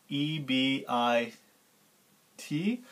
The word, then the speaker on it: EBIT: will be abbreviated as ebi T which we call ebit right just pronounce like we like like you write it okay so we have